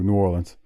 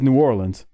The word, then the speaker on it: New Orleans: say like you know it is New Orleans and not New Orleans as Tony said there or or you'll hear people say New Orleans that's not how it's said but the funny part is the city is New Orleans but the parish is Orleans Parish that's how you say it don't ask me any questions it's just how it is so they're GNA start